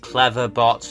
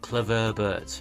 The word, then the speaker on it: Cleverbot: you answer me clever but clever but it's pronounced Cleverbot not clever BT and I'm not Cleverbot you are Cleverbot Eevee